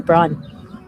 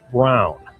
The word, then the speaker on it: Braun: Uh, Braun. Braun. Von Braonn. To the American eye, this looks like Braun, but in German, the name is pronounced Brown.